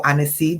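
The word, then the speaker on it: anise seed: shave grass bay leaf a knee seed or anisee that's how we pronounce it and annika powder and there's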